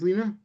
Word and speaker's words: Lena: Is it Lena? Pronounced Lena? Yes, that's right.